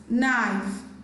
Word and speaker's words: knife: Letter K is silent in the word need, nail, knickers, knife, no, night, knock, not, new.